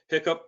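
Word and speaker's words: HICP: uh cyber security practices or hiccup that's how how it's pronounced was created as voluntary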